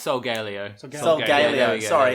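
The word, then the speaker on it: Solgaleo: sun legendary is uh Solio candio it's I I I can never pronounce it it's salio it's cuz it's Sol and Leo in line um and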